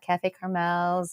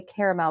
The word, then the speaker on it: Cafe Carmel: my mom and have Cafe Carmel's and Hot Spice Vietnamese, which, by the way, that is how you say Cafe Carmel. We don't say caramel. We say Carmel.